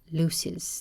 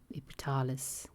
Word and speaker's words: Lysis: It is a Y, Y in Dutch. Lysis, I don't know. I'm just going to say Lysis. Lysis. The accent is on the U, Ypsilon in the Greek.